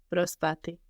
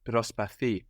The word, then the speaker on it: προσπαθεί: She is trying, Προσπάθει. but with the accent on the ending with this verb, no? Προσπαθεί.